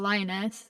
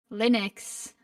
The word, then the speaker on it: Linux: I am talking about Lionus? Lionex. I don't know who Lionus is. Linux. That's how you say it.